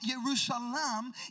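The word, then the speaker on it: ירושלים: beautiful a beautiful city now the name jerusalem pronounced yerushalam in hebrew is a combination of two words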